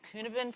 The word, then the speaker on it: Cynefin: And this is a Welsh name, and I'm going to mangle it because I'm Australian and not Welsh. I call it the Cynefin framework.